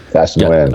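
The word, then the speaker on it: Thach Nguyen: Kiyosaki and Ken McElroy and how do you pronounce it? Thatch Nguyen? Thatch Nguyen.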